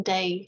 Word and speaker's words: 大: looking at the characters themselves this first character pronounced as da means big or great and you can see